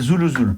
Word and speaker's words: Zulu: Maïbourg, et après il y a Zulu. Ouais, c'est celle-là. Attends, vas-y. U-L-U, parce que c'est vrai que les U se prononcent OU. Zulu, mais ça s'écrit Z-U-L-U.